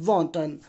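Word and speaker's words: wanton: इसको प्रोनाउंस करेंगे वॉन्टन।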